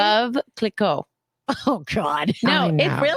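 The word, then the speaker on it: Veuve Clicquot: Vuuv cliquet? Is that how you say it? Vuuv Clicquot.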